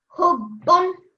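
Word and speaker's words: حُبًّا: The ha with the dhamma joins onto the bar mushaddad. Hub.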